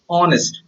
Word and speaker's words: honest: suisse a honest my best friend is an honest person get it why this is the sound of X is silent it's not pronounced that's why an honest